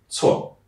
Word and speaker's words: 错: And the last thing, when you see a C at the beginning, it's a ts, like a ts sound. 错, 不错.